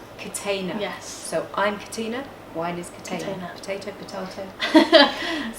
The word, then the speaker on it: Catena: a little bit different so how do we pronounce the wines it's Catina contain them yes so I'm Katina wine is potato potato potato and it's my